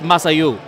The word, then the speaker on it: Massad Ayoob: Thank you, Masad Ayub. All right. Now, I butchered this name. It's Masayu. But, you know, if I